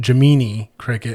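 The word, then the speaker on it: Gemini Cricket: They actually call him Jamini Cricket and it's spelled like Gemini, but it's Jamini Cricket and he's in this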